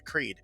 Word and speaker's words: Creed: post uh earlier about how people might pronounce it Sonia cred and that's just insane there's no way there's two eyes it English doesn't function like that hard pass um uh